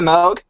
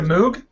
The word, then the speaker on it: Moog: brick at it what is that it's a MOG oh it's a Moog yeah I don't know how to pronounce it it's spelled m o o always